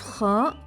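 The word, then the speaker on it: خاء: The sound of khaa is akh, kh, kh. It comes from the top or the closest part of the throat. This letter is pronounced full mouth, as it's a heavy letter.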